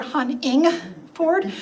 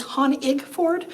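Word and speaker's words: Honigford: will warn you that a lot of people try to put a second n in there they hear me say my name huntingford as they hear Han ingford but it's Han igford so um if you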